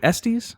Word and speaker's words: Estes: Jason, is it Estes? It is. All right, we have Wow, Jason. You pronounced it correctly. No one ever does.